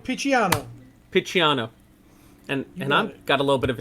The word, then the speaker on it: Picciano: I can't pronounce David's last name. Picciano.